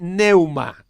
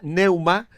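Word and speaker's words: pneuma: Las palabras bíblicas para espíritu son ruach, R-U-A-C-H en hebreo, ruach, y neuma, con la P delante, que no se pronuncia, neuma, en griego.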